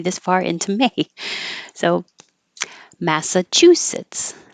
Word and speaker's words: Massachusetts: far into May so Massachusetts Massachusetts and if it helps you to remember it as Chu actually chewing and sits that could be helpful Massachusetts alcoholism start with